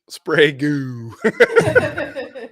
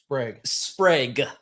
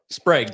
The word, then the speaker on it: Sprague: I've been saying that I'm saying look we got shredward's name wrong too we hope I made a whole video of it he put it in there phonetically correct spray goo great dog you son of a wait till I see you in March goodbye Sprague Sprague best woodworking in Canada